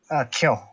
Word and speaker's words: Kyo: Kyo. Kyo. It's like Kyoto without the TO part.